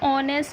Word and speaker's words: honest: Here the word ऑनेस्ट start with H, but here again H is silent, so we will use the pronunciation. Pronunciation is ऑनेस्ट, so pronunciation में sound आ रही है ओ की, तो हम इसके साथ